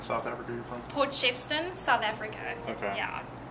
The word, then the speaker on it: Shepstone: Africa you're from Port shepston South Africa okay yeah it's like Shepstone right pronounced Shepstone I guess it's just the local thank you thanks appreciate